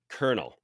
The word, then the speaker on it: Colonel: is a grape called Leal Le l e kernel uh c o l o n l for